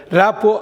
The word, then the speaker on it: rapport: இந்த கடைசியில் வர்ற டீயை நீங்கள் உச்சரிக்கக்கூடாது. ரேப்போ அப்படின்னா நல்லுறவு.